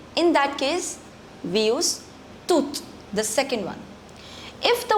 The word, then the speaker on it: toute: The pronunciation of the second and the fourth is same. That's toute and toute.